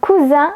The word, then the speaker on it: cousin: Par exemple, vous avez le mot cousin avec le son Z et le mot coussin avec le son S.